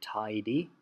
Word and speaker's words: tidy: They don't say they don't pronounce the Y very strongly at the end of a word. So she's trying to say tidy, but it sounds like a